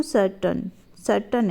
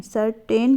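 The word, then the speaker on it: certain: अब यहाँ पे देखिए, the thought cam टू सर्टन है, सर्टेन बोलते बहुत सारे बच्चे गलत है, इसका प्रोनाउंसिएशन होता है सर्टन, ठीक है।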